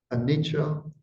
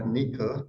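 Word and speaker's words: anicca: characteristics they are um anicha or Anika depending on how you pronounce it Dua and anata um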